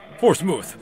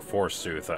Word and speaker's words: forsooth: Forsmuth, my first champion awaits. Or Forsooth, how it's pronounced.